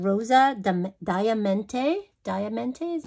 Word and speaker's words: Diamante: Diamante, is how you say it.